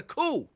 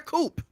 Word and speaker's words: coup: The P is silent. What? Huh? What? Cool. It was a coup, not a coupe.